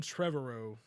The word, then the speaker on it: Trevorrow: The director was Colin Trevorrow. I'm not sure. I'm really not sure if you say that like that. It's spelled Trevorrow. Okay. So tomorrow, except with Trevor in front of it.